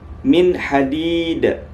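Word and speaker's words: مِنْ حَدِيد: Cara bacanya min hadid, min hadid, min hadid. Jangan antum baca min hadid. Nah, itu salah ya, salah.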